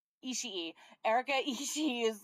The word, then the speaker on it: Ishii: Uh, Ishii. Ishii.